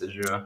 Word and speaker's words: Azure: So that's its pronunciation. It's Azure.